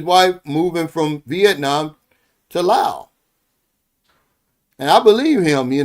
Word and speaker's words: Laos: And I say Laos, not Laos, because I saw that the other day. The guy says, "Oh, it's pronounced Laos." The S is silent.